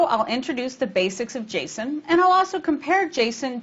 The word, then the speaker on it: JSON: talking about its pronunciation some people call it Jason and some call it Json I did a little bit of investigation and discovered that the original developer of Jason calls it Jason so I'll do that too like XML Jason can